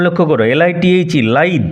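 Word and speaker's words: lithe: লাইদ ক্ষিপ্রান উচ্চারণ লক্ষ্য করো। এল আইটি এইচই লাইদ লিদ নয়।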